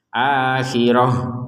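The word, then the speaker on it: الآخرة: akhirat seperti itu maka karena di sini tidak seperti itu maka kita membacanya sebagai huruf ha akhirah gitu karena berhenti kalau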